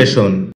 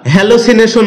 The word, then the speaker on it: hallucination: হ্যালুসিনেশন এটাকে আমরা হ্যালোসিনেশন বলে থাকি যার সঠিক উচ্চারণ হচ্ছে হ্যালুসিনেশন শব্দটি বাক্যে নাউন হিসেবে ব্যবহৃত